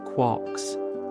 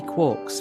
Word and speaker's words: quark: of a T but is usually pronounced to rhyme with lark.